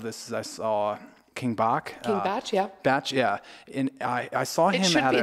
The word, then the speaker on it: Bach: It's spelled like box, so I don't know why we should know it's Batch without the T. But, okay, you know. So it's Batch. In your defense, yeah, it's B-A-C-H.